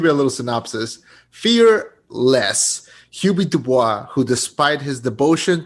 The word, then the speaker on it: Hubie: Am I pronouncing it right? You Is it are. Hubie or Hubie?